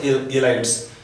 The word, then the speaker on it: ylides: YLIDES, एलाइड्स, pronounce एलाइड्स, इसको heat करते हैं, on heating they will convert to alkenes.